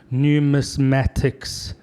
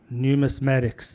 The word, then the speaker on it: numismatics: you said it right let's just try this numismatics numismatics it's a tough one uh a new mass mattist is the um the collector or the professional or somebody who is interested in numismatics and that is numismatics is any type of